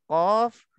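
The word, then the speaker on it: ق: dalam Alquran secara seluruhnya bila jumpanya huruf k pastikan coffee itu bunyi dalam dan juga tebal nah ini kena ingat betul-betul sebab banyak masih banyak pada masih ramai lagi bila bacanya huruf qaf Tak bunyi dalam dan tak tebal didata dalam bila tak tebal otometic nya dia dah jadi huruf Kaf dan Coba bayangkan bahwa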